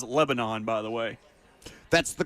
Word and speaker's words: Lebanon: Cheyenne still says Lebanon, by the way.